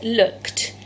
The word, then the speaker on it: looked: But then if we look at this one, this is looked. It sounds like it's making a t sound at the end.